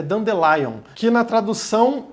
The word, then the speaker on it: Dandelion: chamada dando o lyon tem gente chama de lyon mas na verdade a pronúncia é do the lion que na tradução é